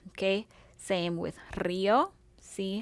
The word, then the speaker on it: Río: Okay, so we have María, we have Río. Again, same thing. The accent is on the I.